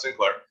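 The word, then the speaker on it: St. Clair: american commander major general arthur sinclair that's his uh sinclair actually it's pronounced sinclair on the left there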